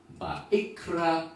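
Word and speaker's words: ויקרא: 그래서 Vayikra el Moshe, Adonai, me'ohel mo'ed lemor. 이렇게 발음 합니다 .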